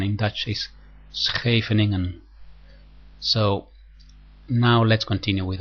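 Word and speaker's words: Scheveningen: to C3 and E6 this is the so-called scening variation now this is mostly not correctly pronounced most people say shingan variation but the correct pronunciation in Dutch is scening so now let's continue with our exercise I'm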